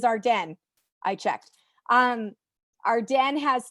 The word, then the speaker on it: Arden: go shopping anymore, but Arden or Ardeen, depending how you pronounce it, but it is Arden.